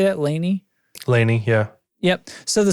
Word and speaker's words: Laney: the Laney so how do you say that Laney Laney yeah yep so the Soldano SLO 100